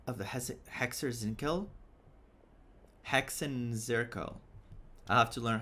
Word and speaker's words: Hexenzirkel: Hexenzirkel.